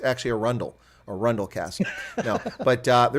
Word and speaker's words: Arundel: noticed i pronounced that correctly for the english arendelle but that is the incorrect pronunciation here in america we fixed that it's actually a rundle a rundle cast but the reason i say